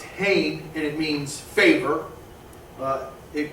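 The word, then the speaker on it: חֵן: Grace is pronounced hain, and it means favor.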